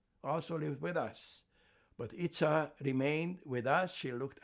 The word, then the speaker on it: Ica: There was a young girl named, we called her Itza, I-C-A, we pronounce it Itza.